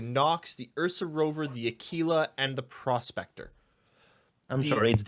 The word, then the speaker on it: Aquila: will tell you that the constellation Aquila which is Latin for Eagle is pronounced Aquila and if you go